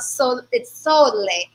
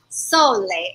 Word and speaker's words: Sole: You see, we have this wonderful bottle of Sole, not Sol, Sole, as it's pronounced, okay?